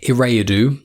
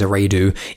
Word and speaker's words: Eriadu: He was born on the planet Eriadu. I may be pronouncing it wrong, I think it's Eriadu, E-R-I-A-D-U.